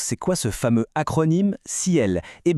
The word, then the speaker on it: CIEL: Alors première chose, c'est quoi ce fameux acronyme Cel ? Et bien ça veut dire cybersécurité, informatique et réseau et électronique. Et petit détail sympa, ça se prononce exactement comme le mot ciel, un nom plutôt bien trouvé, vous ne trouvez pas ?